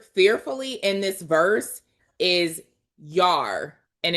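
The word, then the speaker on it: yare: So in Hebrew, the word fearfully in this verse is yar, and it's spelled Y-A-R-E, yar, right? Or it could be pronounced yer, one or the other, yer or yar. We're going to call it yar, but that's the Hebrew word.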